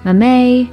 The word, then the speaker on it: mamey: This is mamey. Oh, awesome. Oh, thank you. Mamey? Now we know how to pronounce it.